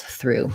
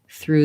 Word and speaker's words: through: help you with that this is the same pronunciation as this through so i threw it through the door basically voiceless th plus r plus